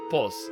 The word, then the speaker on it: PO3: In Russian language community, PO3 is called POS, because number 3 in Russian language is similar to the Russian letter said.